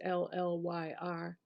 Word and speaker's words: Llyr: be The Castle of Lur or Lear. I'm not sure how to pronounce it. It's Llyr.